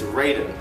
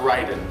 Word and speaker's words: Raiden: the table right now that uh the proper pronunciation of the god of thunder's name is raiden not ryden and you can't dispute it because the game